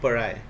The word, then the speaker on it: pariah: इसका उच्चारण जो वर्ड है ये है PARIAH, पराय. इसका उच्चारण क्या होता है, पराय होता है. ठीक है, ध्यान से याद रखना है, इसका उच्चारण पराय होता है।